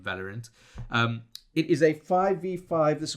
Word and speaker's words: Valorant: Valorant, because it's Valor. Yeah. And then ant.